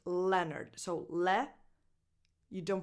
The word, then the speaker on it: Leonard: This name is pronounced Leonard. So le, you don't pronounce the O, basically. Le-nerd. Nerd. Leonard.